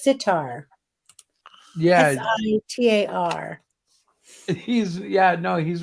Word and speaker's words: sitar: a string instrument Eric it's sitar yes he's yeah no he's right yeah I